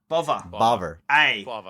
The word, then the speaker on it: Bova: Bova. Just end with an A.